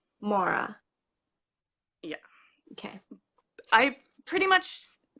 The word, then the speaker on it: Moira: And then other rhymes with Laura is sort of the guide, but people say Laura so differently.